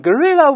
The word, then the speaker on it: guerrilla: 打起来了。guerrilla 确实跟大猩猩那个发音一样，但拼写不同。